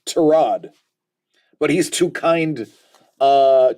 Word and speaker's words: Tyrod: because of the Heisman Trophy accepts it being pronounced Theisman just like tie Rod's tail Tyrod Taylor's name isn't tie rod it's pronounced tarad but he's too kind uh too nice to